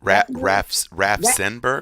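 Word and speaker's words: Raffensperger: So when they go for Kemp and Raffenberger, what's his name? Did I say it right? Raffenberger?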